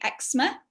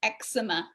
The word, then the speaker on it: eczema: way um so yeah in british english we say eczema two syllables eczema and in the recording the guy was american and he called it eczema which is three syllables oh it depends on